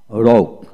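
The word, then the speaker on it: rogue: তারপর আসেন আর ও জি, রগ, আর ও জি, রগ, ইউ ই উচ্চারিত হবে না।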